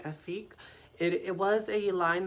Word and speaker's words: Efque: it is the effort it's from the effect line is how you pronounce it i hope i'm saying it right afique it it was a